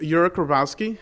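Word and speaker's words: Jurkowski: um my name is yur Kowski it has a silent J and it's pronounced Ure like you wreck a car uh ironically that's what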